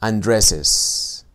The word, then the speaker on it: Andrés's: Esto es difícil de pronunciar. Hay dos S's y para que puedan sonar hay que insertarle un sonido vocálico entre las dos.